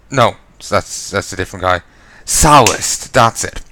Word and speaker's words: Sallust: Sallust. That's it. Sallust. I should remember his name. It rhymes with ballast. Sallust.